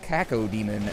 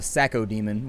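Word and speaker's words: Cacodemon: If you really wanted to mispronounce it, you call it a Sacco demon, which Seems a little bit wrong. Or you could just call him a Sasso demon, which would just be like Will Sasso imbued into a demon.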